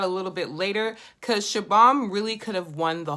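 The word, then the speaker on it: Shubham: Hold on, let me just see how to pronounce his name. Okay, people, his name is Shabam.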